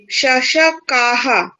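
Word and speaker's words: शशकः: হ্যাঁ, এতৌ শশকৌ, এতে শশকাহ। হ্যাঁ, এইভাবে অভ্যাস করতে হবে। ওকে, গুড। শয়ের উচ্চারণটা এখনো হচ্ছে না ঠিক।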